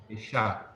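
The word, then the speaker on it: אִשָּׁה: And one thing I'll point out here that this is kind of getting like an extra syllable at the end. So it's adding that a and it's emphasized.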